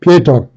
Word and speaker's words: Pietro: All right, and then her signature ally is her big brother, Pietro, or Peter. Pietro. That's how I pronounce it.